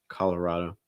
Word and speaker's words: Colorado: pronounce it that way you may also hear people that reduce it a little more like calla color it's a calla it's more color colorado yeah so you hear a couple different things but you want to make sure that the strong o sound at the end okay um i'll stay